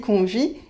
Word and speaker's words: convient: mais pour inviter donc comme c'est un verbe on ne prononce pas ent il convient il invite mais il convient c'est de bien convenir et là vous savez